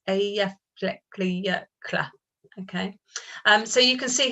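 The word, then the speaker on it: Eyjafjallajökull: So I've had a question, how do you pronounce that? Eyjafjallajokull. Okay, it's quite difficult. In the office, many of my colleagues call it E15. So it's Eyjafjallajokull.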